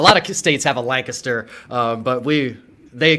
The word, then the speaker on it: Lancaster: A lot of states have a Lancaster, but they call it Lancaster a lot of times, but people hear it's Lancaster, like it's a I in there or something.